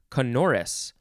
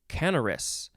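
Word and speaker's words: canorous: as if with a canopy uh next is canoris or canaris c-a-n-o-r-o-u-s adjective from 1646 pleasant sounding synonym is melodious canoris conorus lee is an adverb and konoris nis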